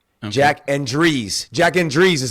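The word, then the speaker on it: Jack Endries: too with Jack Andre Jack and Dre Jack Andre is how you say it I I think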